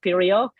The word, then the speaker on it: Pirjo: Hi, and I'm Pirjo, actually, originally from Finland, so that's why the name is pronounced Pirjo, close to my colleague Sarah, in the Nordic countries.